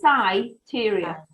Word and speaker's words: Syteria: It's sort of say SYTERIA. SYTERIA, okay. So I reading the meditation book. I'm a bit of an old hippie now. I do a lot of meditation. And I saw this word, SYTERIA, start with an I, S-I.